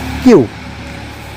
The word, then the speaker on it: queue: কোথাও আমরা কিউ দেখলে তারপরে UI দেখি, QUEUE, এই উচ্চারণটা হলো কিউ, অর্থাৎ সারি বা লাইন।